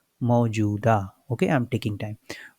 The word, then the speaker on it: मौजूदा: मुख्यमंत्री ने कहा कि राज्य सरकार ने 21 मौजूदा, वाई इट इज बड़ा हो, because I एम not saying मौजूदा, आई एम सेइंग मौजूदा.